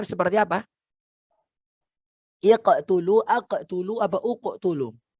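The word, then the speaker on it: اقْتُلُوا: Ya, jadi bacanya kalau waqaf mubin. Kalau diwasolkan sambung mubin, ini uqtulu. Ya, kalau waqaf mubin sambungnya uqtulu. Kalau diwasolkan mubini niqtulu. Gitu ya, jadi nun wiqayah.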